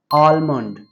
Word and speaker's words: almond: So in British pronunciation हम इसको almond ही कहते हैं, but in American pronunciation हम इस word को कहेंगे almond. आलमंड। हम एल को प्रोनाउंस करेंगे और MOND को हम मंड कहेंगे। Almond.